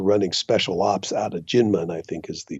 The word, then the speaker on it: Kinmen: exactly yeah okay so it's Ginman but spelled with a K so everybody go and